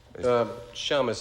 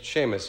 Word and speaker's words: Shamus: Another movie, Shamus, is that it? Shamus, if you're Jewish. Seamus is the correct pronunciation.